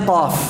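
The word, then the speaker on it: ق: Berikutnya qaf. Qaf ini pengucapannya majhurah, tertahan udaranya. Jadi jangan dibaca begini, qa, enggak. Qa tidak. Ya, walaupun ya kadang orang Arab mengucapkan qaf gitu kan, qa, enggak. Bukan qa. Ya.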